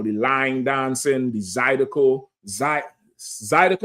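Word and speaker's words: zydeco: Zidico or Zidco. You said it right the first time I said Zidico.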